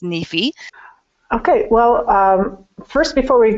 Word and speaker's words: NEFE: is with the National Endowment for financial education pronounced Neifi okay well first before we began I'd like